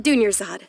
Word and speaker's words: Dunyarzad: Dunyarzad.